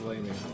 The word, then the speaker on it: lamia: So the so the lamia is, I guess that's how I think you said that's Yeah, how it's yeah, pronounced, lamia. In the phonetic spelling on Wikipedia says lamia.